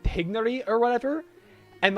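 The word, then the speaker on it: Tighnari: Tainari, and I think his name is supposed to be pronounced Tignari in, like, where it's from. But then when it's localized, they say Tainari because that makes more sense through localization. And it just is easier for people to say than, like, Tignari. I don't know how to say it. It's like, you have to do, like, a weird, like, roll on the I that I can't quite pull off. Tignari or something.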